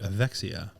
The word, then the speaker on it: Evexia: beautiful brand new gym with his wife named Axia and I want to make sure I'm pronouncing that correct as well yep which I